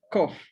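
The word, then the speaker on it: קוף: Luego está la consonante kof, tal como está escrito, una kof y una jolán malé, forma la sílaba ko.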